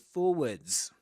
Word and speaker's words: forward: cross button to move forwards. Yes, in British English, forwards. In American English, forward. Forward without the s at the end and pronouncing the ra in the middle of the word.